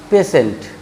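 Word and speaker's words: patient: गौर करिए टी के बाद आई ई आ गया है, इसलिए उच्चारण हो जाएगा पेशेंट।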